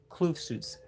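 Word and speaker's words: Kloof Suits: Kloofsuits.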